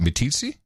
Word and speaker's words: Meeteetse: like Meeteetse like Meeteetse fly how do you pronounce it me TC like hi TC sir tom Darian DeForest Wisconsin